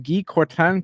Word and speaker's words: Guy Courtin: We're going to try to do it the French way. I'd like to welcome Guy Courtin to the show. How did I do, man? John, excellent. You get an A for effort and an A for pronunciation.